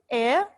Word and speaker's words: heir: आपने मेरे साथ इसे pronounce करना है. ठीक है. right after me. okay. first word is air.